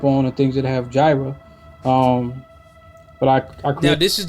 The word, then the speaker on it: Jira: It's pronounced Jira.